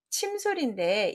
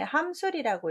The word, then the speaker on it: 침술: 답은 침술인데 이 뒤에 있는 다함자 때문에 함술이라고 읽을 수도 있지 않나 라는 실수가 좀 있어요.